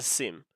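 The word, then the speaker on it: SIEM: So let's start but by telling us what by by saying what is a sim. If I go over the chat GPT response, ASIM, pronounced SIM, stands for security information and event management.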